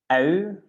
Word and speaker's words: ui: So you make a bit from your lips, yeah, kind of a trumpet. So it's ui, you open it and then close it like a trumpet. Ui.